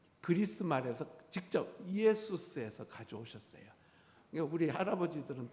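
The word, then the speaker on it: Ἰησοῦς: 그러니까 우리 한번 발음해 봅시다. 예수아. 그게 이제 그리스로 가서 이에수스.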